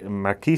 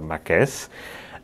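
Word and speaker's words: Marques: beauty over here it's the epic leia rene marquez yes i think that's that's how you pronounce it um marquis some people say but i like to refer to it as a marquez and well before we do that mine is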